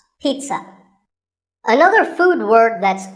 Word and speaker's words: pizza: not a pizza and it's not a pizza there's no z sound in this word it's peat sun pizza another food word that's